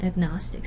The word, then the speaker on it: agnostic: There's a before nasal sound, but if it's not the syllable initial sound, it stays agnostic.